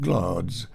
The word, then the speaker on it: Gladys: the castle g-l-a-d-i-s gladys which for those who don't know is pronounced glads like gloms glads was attacked by